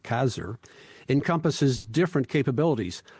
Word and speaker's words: CASR: space Reserve program or I think you pronounce it kazer encompasses different capabilities how